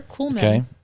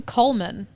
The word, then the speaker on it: Coolman: wrong until this year i was saying coleman cole no but it's coolman and i just like